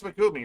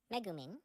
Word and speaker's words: Megumin: yep maybe I don't know her name it's magumi right megumin okay it's just me Prince pronouncing itself you watch my streams you you